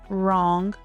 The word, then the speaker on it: wrong: Silent W often appears before R. Examples include right, wrong, wrist, and wrap. Even though the spelling starts with W, the sound starts with R.